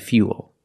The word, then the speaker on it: fuel: like pool and cool but remember with fuel we have the same spelling pattern but the pronunciation is a little different we put that Yi sound in there fuel so all four words